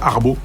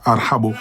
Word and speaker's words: ارحبو: Ils n'arrivent pas à prononcer, ils disent arbo, arbo. Arbo parce que c'est difficile pour un Français de dire arhabo.